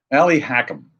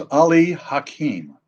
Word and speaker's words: Ali Hakim: character in Oklahoma called Ali Hackham. That's how they pronounced it in Oklahoma, Ali Hackham. But you knew it was Ali Hakim, a Persian.